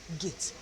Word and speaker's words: gate: You say the letter name, that's the long vowel sound of the first vowel, and the other vowel is silent. Gate, gate is the split digraph.